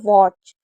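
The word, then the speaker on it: watch: इसमें हमेशा याद रखिए कि ए को ओ पढ़ते हैं। जैसे वॉच। तो अगर वॉच में ए आएगा तो उसे ओ पढ़ा जाएगा।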